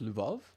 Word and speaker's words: Lvov: It's pronounced Lvov. It's like a Lu. Lvov. I would have said Lviv.